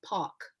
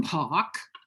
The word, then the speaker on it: Palk: your last name wrong i have to rhyme it with walk right like walk so where's that name what's the the genesis or the heritage of that of park it's british yeah both